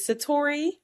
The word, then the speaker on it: Satatori: Is it Satatori? Okay. Okay. I was saying it all night yesterday like trying to practice. I'm like I'm pretty sure it's Satatori.